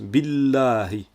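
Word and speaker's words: بالله: Diarra donc on prononce bilahi le son avant le tiret entre dans le son après le tiret on l'entend bien mieux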